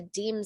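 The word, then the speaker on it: dîme: it's lasted for so long it's called the deem system it's spelled d-i-m-e is because um no money is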